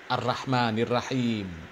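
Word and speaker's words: الرحمن الرحيم: Baca huruf ro di fathah bacanya ra ya. Ar-Rahmanir Rahim.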